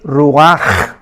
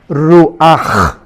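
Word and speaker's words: רוח: espíritu es r pero la ch en hebreo se pronuncia como J es ruaj ruaj como j y murió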